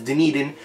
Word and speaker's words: Dunedin: My parents always say Donedin, but I figured out that the pronunciation of the town is Dunedin.